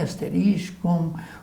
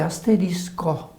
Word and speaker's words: asterisco: Que não é asterístico ou asterisco? Então, de verdade, o certo é asterisco. Não tem o tico, né?